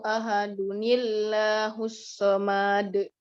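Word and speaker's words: أَحَدٌ اللَّهُ: Ketika tanwin bertemu hamzah wasol, rumusnya tetap sama, akan lahir nun wikoyah di antara keduanya. Nun wikoyah. Iya ya. Cara bacanya nun wikoyah selalu berharokat kasroh, sedangkan yang tanwin berubah menjadi satu. Ya. Aduh, domanya jadi satu, tidak dua ya.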